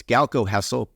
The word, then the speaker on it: Golkow Hessel: It's Golkow Hessel, but it's spelled differently than it sounds.